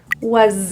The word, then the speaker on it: was: In the word was, that S is voiced. It sounds like a Z. Was I?